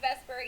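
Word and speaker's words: VSEPR: of our Le structures we have what's called Vesper Theory U which is veence shell electron pair repulsion Theory it's pronounced Vesper even though it's spelled vs e p r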